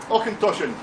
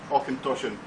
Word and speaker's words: Auchentoshan: Auchentoshan. Those are a few from the States. Here's a challenge for you to pronounce that properly. Auchentoshan.